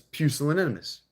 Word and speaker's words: pusillanimous: It's pusillanimous. Pusillanimitus. That's a hard word. Pusillanimities. That's a hard word. It's pusillanimity. Pusillanimous is how that would be pronounced.